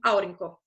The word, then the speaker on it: aurinko: E também, quanto à tonicidade das sílabas, a sílaba tônica no finlandês é sempre a primeira sílaba da palavra. Eu trouxe aqui uma palavra só para ilustrar essa característica. Aurinko, que é sol, não pode ser produzida como aurinko, nem aurinko, é produzida como aurinko.